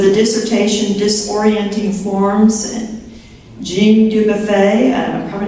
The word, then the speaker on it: Dubuffet: Oh, Dubuffet, I was close, okay.